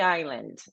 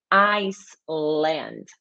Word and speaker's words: island: Pronúncia de island. Gente, ilha não é Iceland. You don't pronounce the letter S.